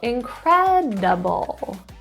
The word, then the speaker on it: incredible: Stress in the second syllable, incredible. Incredible.